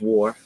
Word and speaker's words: War: Her name is War, and I don't care how you think that's pronounced. It's War.